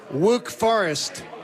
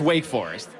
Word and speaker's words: Wake Forest: it wrong on purpose like wook forest you could do that no no now you sound stupid it's wake forest that's interesting john quincho